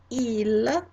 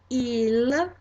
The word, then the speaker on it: il: Third person plural masculine or mixed gender group, il, il.